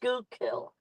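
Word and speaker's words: Schuylkill: It's It's pronounced skookill. Skoo kill. Although, I got to tell you, the best pronunciation of it I've heard is skullkill.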